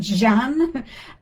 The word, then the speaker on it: Zan: So zan, which is probably pronounced jean, and jean, which is they're almost the same sound. And it depends on the accent or the the regional area. Jean Jean like that. They're all the same.